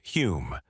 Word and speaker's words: Home: One of the most notable was Daniel Douglas Holm, pronounced Hume, a Scottish-born medium of extraordinary charisma and talent.